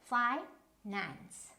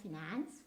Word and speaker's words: finance: as a noun, so the stress will always be in the first syllable. So finance. So first syllable is fi, and nance is the second syllable, right? So finance, so that is why we lay stress on this, not finance, finance.